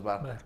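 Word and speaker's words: Bahr: Carlos Barr se escribe B-A-H-R. Sí. Carlos Barr.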